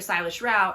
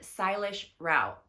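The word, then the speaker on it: Sailesh Rao: we met with Dr Silas shroud at the most recent uh Earth Day event oh my that was awesome he's amazing say his name again Dr stylish Rao s-a-i-l-e-s-h Rao r-a-o he is a systems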